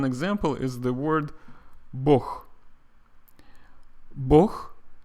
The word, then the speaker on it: Bog: Bog means God in Russian, but it is spelled B-O-G. in English, at least it's how it's transliterated, B-O-G, Bog. But Russian people pronounce it as Bog.